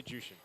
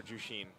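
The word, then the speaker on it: Zhuxin: So Super Friends, this how do you say it again? Jushin? Zushin? I say Jushin. Okay, I'll just say Jushin also.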